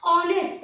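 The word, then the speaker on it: honest: लिखा है ना लेकिन ह क्या होता है साइलेंट होते हैं इसको बोलते क्या ऑनेस्ट तो ऑनेस्ट कैसे लिखेंगे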